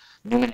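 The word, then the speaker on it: numen: energy that we call the Newman energy, that it's spelled N-U-M-E-N, Newman energy.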